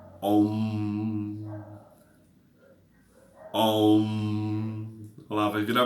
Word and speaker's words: Om: E ele é pronunciado como Om.